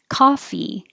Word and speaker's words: coffee: Coffee, the vowel is ah, like hot.